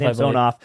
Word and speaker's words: Samsonov: Samsonov.